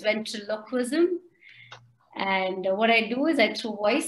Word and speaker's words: ventriloquism: people mis pronounce it it's not ventricularism it's ventriloquism and what i do